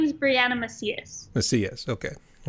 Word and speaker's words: Macias: last name hi um my name is brianna macias let's see yes okay i want to make sure i pronounce that right sorry and you're actually our